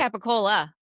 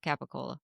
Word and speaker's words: capicola: That's We call it what- Capicola.